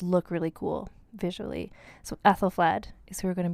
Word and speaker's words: Æthelflæd: They all start with that letter that's like A and E smushed together, which I believe is pronounced like an A.